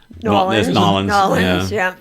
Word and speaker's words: New Orleans: New Orleans. Nolans. Nolans. And then you got WOON soccer. I know. I think we actually pronounce it wrong by saying Woonsocket.